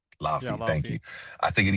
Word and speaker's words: Laufey: I'm not sure how to pronounce. Laufey, thank you.